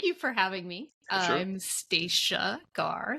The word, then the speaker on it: Stacia: I'm Staca Gar Staca like Anna. Staca, no Anna.